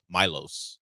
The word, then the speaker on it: Milos: Samson talk about him to make sure I got the right pronunciation Milos is what he calls him uson uh he he knocked